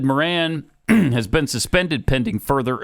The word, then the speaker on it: Moran: Not Moran. It's Moran.